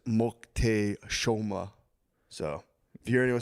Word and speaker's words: Moctezuma: Apparently, the way you say Montezuma is Moctezuma.